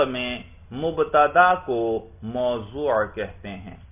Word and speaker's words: موضوع: اچھا، منطق میں مبتدا کو موضوع کہتے ہیں، ضاد کے ساتھ، میم واو ضاد واو عین، موضوع.